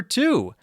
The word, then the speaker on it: two: sword two the number two t-w-o the number two is spelled t-w-o but it has the same pronunciation as two to and